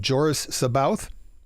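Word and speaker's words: Joruus C'baoth: he could be playing there are various different pronunciations of the character i'm going with what i recall to be the old audiobook pronunciation but joris saboth oh yeah yeah yeah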